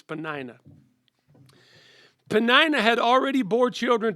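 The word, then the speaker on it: Peninnah: had two wives penan pena naya and hannah i'm never going to say her name right panina that's her name whatever i say tonight her real name is panina penina had already bore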